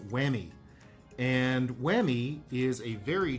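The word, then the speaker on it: Huami: put up on the screen here but it's pronounced whammy and whammy is a very chinese company but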